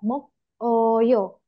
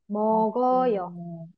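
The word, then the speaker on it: 먹어요: Oke, selanjutnya ada mok oyo. Mok oyo. Nah, di sini juga gioknya naik menjadi mogoyo. Mogoyo. Mogoyo. Hmm. Mogoyo. Pelafalannya aja ya. Tapi untuk penulisannya tidak boleh seperti ini.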